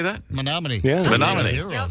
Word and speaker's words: Menominee: Menominee.